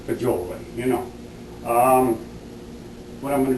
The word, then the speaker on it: fagioli: Now, they may have different pronunciations for that, but I call it fagioli, you know.